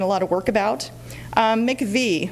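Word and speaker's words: MIECHV: lot of work about make a V that's how we pronounce that acronym bully or not and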